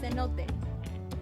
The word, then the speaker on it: cenote: Cenote. That's how you say it.